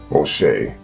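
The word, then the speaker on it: משה: Moshe, as his name is pronounced in Hebrew, wrote the Torah according to the Jewish tradition, which is the first 5 books of the Bible.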